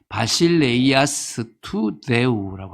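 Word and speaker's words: βασιλεία τοῦ θεοῦ: 바실레이아스투데우 할 때 이게 이제 뻔이 발음이 돼야 되는데요. 바실레이아스투데우라고 합니다.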